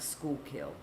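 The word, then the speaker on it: Schuylkill: Rose says it's pronounced like school kill.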